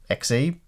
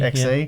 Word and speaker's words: Xe: purchase, as next year we've got the Intel Xe? I don't know, how do you pronounce that? I think it's Xe. Xe.